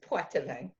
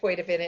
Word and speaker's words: Poitevin: It's Poitevin. Okay. But most And people pronounce it Poitevin, and that's fine too.